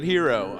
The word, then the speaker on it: gyro: while i like a euro okay you pronounced it properly so you call it hero do you now are